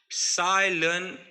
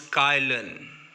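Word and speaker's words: Cai Lun: Paper was firstly invented by Ceylon, and we also pronounce Kylan, but both names are same for same person, Ceylon or Kylan, a Chinese who started first paper making industry in 105.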